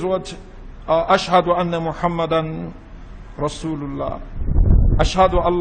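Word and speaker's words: أشهد: Some people, they say ashhadu, ashhadu, ashhadu. So they've added alif between the ha and the da. So ashhad has altered, when one pronounces it that way, it has altered the meaning of ashhadu.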